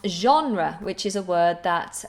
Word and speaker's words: genre: Genre, je. I think this is a French word. It sounds very French with that very French sounding je, like je m'appelle Anna.